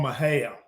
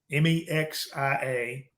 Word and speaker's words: Mexia: I grew up in a little town called Mahal m-e-x-i-a looks like it's pronounced Mexia okay but it's about 40 miles